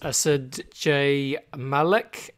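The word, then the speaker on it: Asad J. Malik: my guest today is asid jay malik have i said that right andy wow that's a probably the best pronunciation of my name i've heard in a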